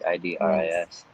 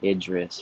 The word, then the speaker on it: Idris: Because people used to call me like Idris or something, but it's actually like Idris is closest to the proper pronunciation.